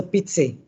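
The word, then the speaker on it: Pitsi: surname isn't it yes how would you pronounce that mr pizzi p-i-t-s-i okay pg okay what is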